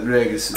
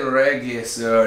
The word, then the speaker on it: Regisseur: Yeah, regisseur. Regisseur. Regisseur. Well, it's the beginning R. We said regisseur. It's regisseur.